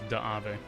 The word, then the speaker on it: Dave: His name is spelled Dave, but everyone in the story pronounces it as Daave.